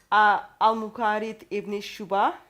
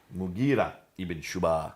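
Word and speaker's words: Mughira ibn Shu'ba: Sorry for the Abdul pronunciation. Qais. Qais. In Syria, Al-Muqarid ibn Shuba. Mughira ibn Shuba.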